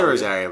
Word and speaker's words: Rosario: And then your last name, Rosario? Well, I say Rosario, but some people, they just... Rosario. Rosario. Put that like Philadelphia accent into I'm also from Long Island, so that just like...